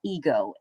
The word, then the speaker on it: id: So if you're having a hard time keeping what the id does, some of you will pronounce it as ID, and it's not, it's actually id.